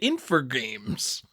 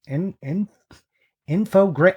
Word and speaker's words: Infogrames: I've been calling it Infogames. Yeah. Holy shit. All right. You're right. Infogrames.